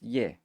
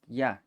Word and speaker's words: ya: This is it used to be pronounced ye. Well, in Central varieties it's pronounced ye. In the Huasteca and Eastern varieties it's pronounced ya.